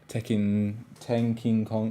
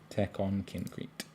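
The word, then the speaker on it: Tekkonkinkreet: And these collect most of his sort of concept drawings for Tenkin Kong.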